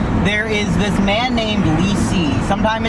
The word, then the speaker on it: Li Si: There is this man named Li Si. Sometimes it's pronounced Li Su. I don't speak ancient Chinese, so Li Si.